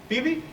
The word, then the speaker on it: Phoebe: First, he pronounced Phoebe. Phoebe, okay.